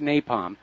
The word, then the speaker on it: napalm: similar to the infamous Nepal munitions that the u.s. used in the war in Vietnam white phosphorus melts the skin off human bones resulting in an excruciatingly ly torturous death okay it's pronounced napalm okay and actually white